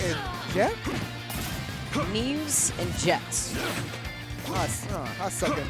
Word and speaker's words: Jehtt: Neves and Jehtt. I suck at names. We're going to go with Jehtt. That H is silent.